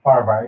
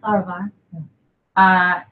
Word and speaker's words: Farahvar: Is that pronounced correctly? Farahvar, yeah. Farahvar.